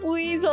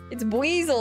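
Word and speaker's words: Buizel: Yeah, buzzel. I used to say I I used to not know how to pronounce them. I used to say basel like a weasel.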